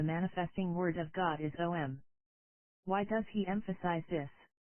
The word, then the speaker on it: Om: Om, Aum, is such a sound, the basis of all sounds.